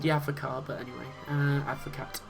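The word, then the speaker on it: avocat: With a name like Pierre, you'd imagine that he'd be called the Advocate, but anyway, Advocate, if you want to pronounce the T, but which is obviously French for lawyer.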